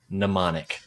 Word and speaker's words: mnemonic: p-h-n-e-m-o-n-i-c mnemonic okay so you were right with the silent letter and you're right in the second half of the word you got the wrong silent letter it is m n e m o n i c manonic as well I